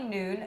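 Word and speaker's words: Noone: pretty much this girl her name is Ronnie noon her name really confuses me because it's spelled n o o n e which looks like no one yeah right that's true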